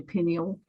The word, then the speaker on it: pineal: U Americans say pineal, but we say pineal.